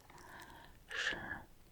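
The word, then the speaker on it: 十: It can be quite difficult to pronounce. Sure. So that's the second tone.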